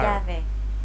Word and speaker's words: llave: Now, let's listen to how Alex pronounces this sound in a few words. Llamar. Llamar. Llave.